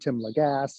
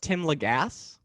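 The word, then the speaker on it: Tim Lagasse: my friends pamar sierra and marty robinson and tim legass all worked on as well so so it's pronounced tim legasse yes i always say i always no it's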